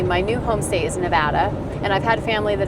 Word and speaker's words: Nevada: But out-of-staters and non-local people call it Nevada. Well, for the record, it is pronounced Nevada, not Nevada, Nevada.